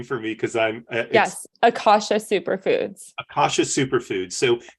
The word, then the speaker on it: Akasha: was it I'm sorry you're gonna have to pronounce the name for me because I'm yes Akasha superfoods Akasha superfoods so how did how did